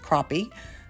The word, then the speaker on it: crappie: And yes, it is pronounced crappie.